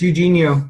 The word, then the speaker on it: Eugenio: Now, Evgenio or Eugenio, how do you pronounce that? It's Eugenio. Eugenio.